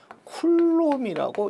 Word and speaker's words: 쿨롱: 여러분 단위는 대문자 C라고 쓰고 여러분 읽기를 쿨롬이라고 읽습니다. 쿨롬 뭐 쿨롱 해도 되고 뭐 또는 뭐 쿨롬 뭐 이렇게 하는 사람도 있고요.